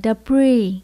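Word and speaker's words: debris: à The bridge Blue trong từ này có chữ S mà chúng ta không phát âm chữ S bị Xitrum câm như các bạn cho nên mình chỉ đọc là the free không có chữ S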